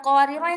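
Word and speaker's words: قواريرا: Tapi kalau misalkan kita mau berhenti di qwariro ini, maka dia jadi panjangat qawarir gitu.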